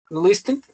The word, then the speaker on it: listened: Listened with the pronunciation. Remember the T is not pronounced.